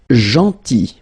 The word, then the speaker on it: gentil: Then gentil. So remember this final L is not pronounced.